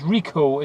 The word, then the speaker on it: Ricoh: for some reason buzz reco is how you pronounce it we go into theta